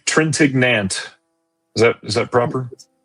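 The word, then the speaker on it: Trintignant: Uh, Trentenot. Trentenat. Sure. I'm going to say Trentignant. Is that Is that proper? It's Trentenant.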